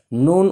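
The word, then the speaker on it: نون: সহকারে শোনার জন্য বলছি নুন উচ্চারণ করার সময় সবসময় মুখ ফাঁকা থাকবে আর যখন শুধুমাত্র নুনের নাম বলবো তখন ঠোঁটটা গোল হবে দেখেন নুন নুন নুন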